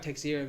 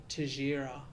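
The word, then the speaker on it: Teixeira: good about it yeah it looks like texera but i think it's to tajira um the brazilian pronunciation probably wrong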